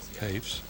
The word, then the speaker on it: Hafes: Now batting for the Warriors, number 1, center fielder, Justin Hafes. Justin Hafes. Hafes. Certainly isn't spelt that way with an O in it. But Hafes is the way we have it being pronounced in here.